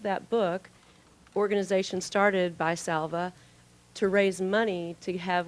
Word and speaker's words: Salva: the story of Salva and, how do you pronounce that, Joe? Salva? Is it Salva? Yes. Yes, okay, Salva.